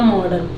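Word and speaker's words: modern: देखि य प मॉडर्न इसको मॉडर्न पढ़ते हैं आर में साइलेंट रता है इसलिए जल्दी से पढ़ते मडन गाडगे ठीक है इसको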